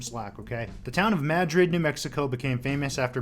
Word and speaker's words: Madrid: yes it is pronounced madrid there's an emphasis on the mad part so before you say